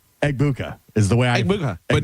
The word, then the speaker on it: Egbuka: But it's not Egbubu. What is it? What is it Gronk? Hold on. Oh crap. Crap. Emeka Egbuka Abuka Egbuka I love egg bites.